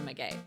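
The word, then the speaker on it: Maggey: do it it's meay her name is Maggie but it's spelled m a g g e y so we've been calling her meay good morning Mr Ray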